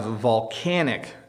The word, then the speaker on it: volcanic: so this is a volcano and we have volcanic eruptions notice the difference in pronunciation this is a volcano but we have volcanic eruptions when the volcano erupts